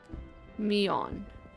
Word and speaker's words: Miounne: Miounne. Yes. Thank you. Miounne. Good to know for pronunciation purposes.